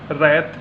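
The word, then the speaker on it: write: इसमें देखिए आपका डब्लू साइलेंट है, रैत, रैप, रेक।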